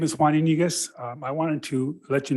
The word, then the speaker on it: Iniguez: Next, we have Juan Iniguez, followed by Tom Nelson. Thank you for pronouncing my name correctly. My name is Juan Iniguez.